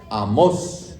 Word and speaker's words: Amós: y después viene Amós, que tiene un acento en la O, Amós, ¿ok?